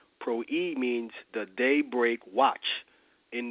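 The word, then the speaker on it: πρωΐ: word Pro II it's prw I and it's pronounced Pro II Pro II means the daybreak watch in the renewed testament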